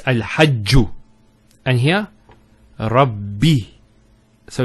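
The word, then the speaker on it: رب: The first Ba takes a Sukoon. And the second takes a Kasra. So it's Rabbi.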